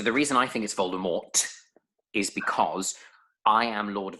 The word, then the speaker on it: Voldemort: purposes of our podcast it's Voldemort yes why not just for the purposes of our podcast but for all you people out there if you're pronouncing it Volda more stop fine I'm with you